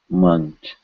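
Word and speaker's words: मंच: N is pronounced the same way we are saying cha, munch.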